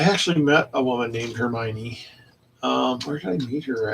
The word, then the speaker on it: Hermione: And that's how she pronounced it, was Hermione, so that's how I pronounce it.